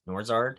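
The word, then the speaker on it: Nourzad: another person who started in uh hunter norris norzard said he pronounced that name um he was a transfer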